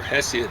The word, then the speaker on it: Hesiod: are some classical sources or hessian as i prefer to say it but i think the general english mispronunciation mine is a mispronunciation is hesiod and it's the theogony